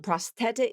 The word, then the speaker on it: prosthetic: that's coming up and really this is kind of a challenging word for for native speakers even to pronounce because they're they're not quite sure how to pronounce that th um prosthetic you know what it's because it's just uncommon. So, it's a voiceless th. Keep your tongue tip in. Just hit the back of the teeth.